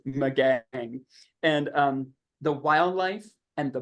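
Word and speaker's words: Magangué: this little town, and it's pronounced Magag or Magang. And it really doesn't look like that's the way you'd pronounce this at all. But I've checked with 3 people and they told me yes. Now somebody else might come along and go, no, and I'm willing to be corrected. But with what I have learned, this is pronounced Magang.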